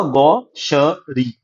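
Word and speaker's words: gaucherie: देखो इसकी प्रोनाउंसिएशन क्या होगा, गौशरी।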